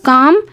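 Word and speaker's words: calm: है ठीक है सो काम शांत काम मींस होता है शांत एल यहां पे साइलेंट रहता है काम काम मींस होता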